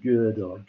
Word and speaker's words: Gödel: be Gödel, which is an unpronounceable German symbol with the two dots written on top of the O, and it's something like a long. It's Gödel. But it's a kind of Gödel.